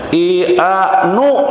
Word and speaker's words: IAINU: Kemudian IAINU Kebumen, IANU, nah gitu bacanya, IAINU Kebumen hadir alhamdulillah, mudah-mudahan berkah.